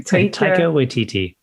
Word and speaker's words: Taika Waititi: And I'm a huge fan of, pronounce his name again, sorry. Taika Waititi.